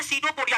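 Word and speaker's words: pseudopodia: पाद को अंग्रेजी में सीडो पोडिया कहते हैं क्या कहते हैं सीडो पोडिया कहते हैं सीडो पोडिया कहते हैं प जो है साइलेंट रहता है इसको सीडो पोडिया बो पढ़ते हैं दोस्तों तो इन जीवों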